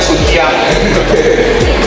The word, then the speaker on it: Suntiang: Nah di sebelah sini ada yang bagus nih, kalau di suku Minangkabau, di Kamanipang, warna itu mengenakan mahkota khusus ya, namanya Sunti, tapi bacanya Suntiang.